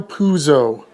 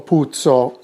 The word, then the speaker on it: Puzo: to it shall we mario puzo is how most italian-americans say his name p-u-z-o is actually not italian however the name is most probably p-u-zio putso in italy or p-u-s-o puzo in italy the reason most likely